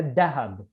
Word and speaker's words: dhahab: So the sound dha, like for example, in the word dhahab, gold, yeah, they don't pronounce it as da, but as da, yeah, dahab, like in Syria and in Palestine, yeah.